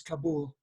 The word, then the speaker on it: Kabul: but you don't know the way they pronounced it in Afghanistan is Kabul okay the road to